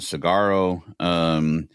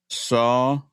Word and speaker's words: saguaro: And he said, that I pronounced it cigarro, cactus is pronounced, and he says it's saguaro.